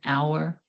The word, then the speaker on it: hour: An apple, an egg, an orange, an hour. The letter H in this word is silent, so it sounds like it starts with a vowel.